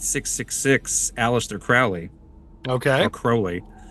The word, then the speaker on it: Crowley: or Crowley. I believe it's Crowley is the correct pronunciation.